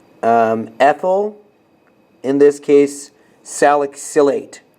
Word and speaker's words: salicylate: ethyl in this case salicylate that's how you pronounce it so salicylate just like you would with the ethanoates or the butanoates salicylate is spelt like